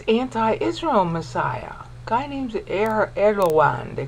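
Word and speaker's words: Erdoğan: Guy named Erdogan, they call him. I would call it Erdogan, but they on TV they call him, they pronounce the G like a W.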